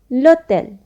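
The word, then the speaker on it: l'hôtel: two letters for example lotel here we are not pronouncing h but we are doing the joining of letter l with wobble o so when we do the liaison that become lotel which means hotel next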